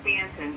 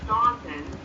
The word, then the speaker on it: Staunton: I live in Stanton, Virginia. It's spelled Staunton, but it's pronounced Stanton because during the Civil